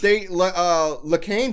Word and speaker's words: Lacan: No, it's spelled like Le and then like Cain, like Cain and Abel.